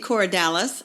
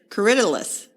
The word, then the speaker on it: Corydalis: website they pronounced it cidus cidus well I guess that makes sense yeah it could be so I've been trying to train myself to say citus which is a very